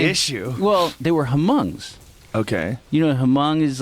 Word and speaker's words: Hmong: Well, they were Hmongs. Okay. Hmong is like Yeah. this. If you saw Gran Torino, that movie with Clint Eastwood. I think the H is silent.